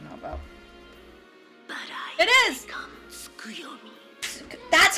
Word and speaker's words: Tsukuyomi: Skuyomi.